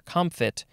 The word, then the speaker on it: comfit: on to uh com comfit yeah there's a maybe a little bit of a p sound in there comfit um at least that's what it's saying in the uh the the pronunciation guide it is just c-o-m-f-i-t